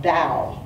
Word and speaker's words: Tao: uh is actually pronounced da it's uh spelled Tao but it's pronounced da and this story is